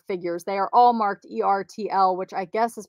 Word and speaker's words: ERTL: horse cow dog figures they are all marked e-r-t-l which i guess is pronounced ertl i used to just spell it out but